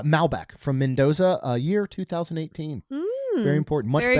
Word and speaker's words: Malbec: Looks like it's pronounced uh Malbeck from Mendoza.